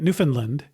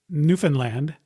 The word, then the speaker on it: Newfoundland: or the island of Newfoundland by calling it Newfoundland, which I've learned since is not the correct pronunciation. So the correct pronunciation is Newfoundland, not Newfoundland, as I say in the interview.